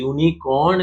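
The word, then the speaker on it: unicorn: ए इसलिए लगेगा कि यूनिकॉर्न का जब हम प्रोनाउंसिएशन कर रहे हैं तो उसका स्टार्टिंग साउंड वाई हो रहा है, वाई, यू यू, वाई ओ यू, वाई इज नॉट a vowel, सो इसका आंसर होगा,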